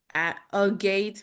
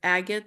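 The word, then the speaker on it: agate: solidor and the aate even though it looks like a a gate but it's agot so right so pronunciation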